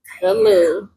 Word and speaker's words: Thalou: The Lou is spelled THALOU. The Lou.